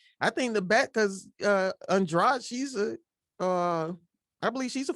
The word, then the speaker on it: Andrade: It's spelled Andrade like Spanish, but it's Portuguese. Yeah. It's Portuguese, so it's Andrade. It's like Garcia. It's Garcia.